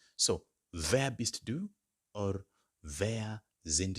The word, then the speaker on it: wer: I would ask by saying, wer, now get the pronunciation correctly, W-E-R, wer.